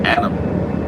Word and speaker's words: AATM: If you want to play a game with me in chess, all capital AATM. That's my original nickname. All about that money, and then pronounce it Adam.